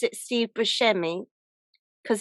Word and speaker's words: Buscemi: So apparently, you really do pronounce it Steve Buscemi because his Sicilian relatives told him that's how you say it. But Oh, okay. Yeah. so his real name is Buscemi, or how they say it in Yeah.